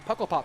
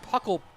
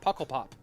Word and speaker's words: Pukkelpop: Did I say Pukkelpop? I said Puckle. I think it's pronounced Pukkelpop. Not entirely sure.